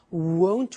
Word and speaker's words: won't: Won't. Remember the difference between will not won't and won't want.